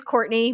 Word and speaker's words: Courtenay: It is Courtney, but it's spelled like Courtenay.